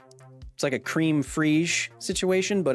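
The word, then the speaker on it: crème fraîche: Oh, it's pronounced cream frige.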